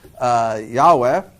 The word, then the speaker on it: Yahweh: He came up with the transliteration of, I'm going to say it now, Yahweh, which either is or is not the correct pronunciation of that name, because we don't know the correct pronunciation of that name.